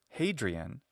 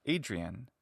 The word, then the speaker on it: Hadrian: He didn't embarrass me, but he said that it's not Hadrian, it's pronounced Adrian, and not human, but human.